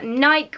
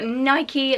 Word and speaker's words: Nike: pair of leggings from Nike or Nike let me know how you pronounce it down below I think I usually say Nike I'm pretty sure that's the correct terminology these leggings you may